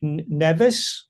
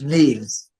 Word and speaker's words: Neves: MR: When I listen to the how do you pronounce the N-E-V-E-S? DF: If you -- backwards it's seven. MR: So is it "Neves?" DF: "Neves" I call it "Neves."